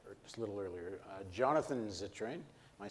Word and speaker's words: Zittrain: Jonathan Zittrain, am I saying it right?